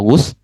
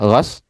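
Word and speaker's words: غسل: Nah, ini pendekatan fukaha karena kita bacanya adalah kitab fikih ya sudah kalau mandi kita bacanya gusl. Tapi kalau membasuh kita bacanya gas.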